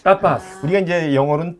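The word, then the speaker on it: tapas: 근데 이제 저희는 아까도 말했지만 T를 네. 세게 발음하거든요. 그래서 네. 타파스. 따빠스. 우리가 이제 영어로는 타파스 그러지만 타파스 그러지만 여기는데 타파스라고 타파스.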